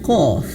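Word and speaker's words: ق: Cara bacanya mirip seperti yang pertama tadi ya, tapi berbeda hurufnya. Ini hurufnya Qaf. Nah, hurufnya Qaf diberikan hukum bacaan warna ungu. Mad 6 harokat atau 6 ketukan.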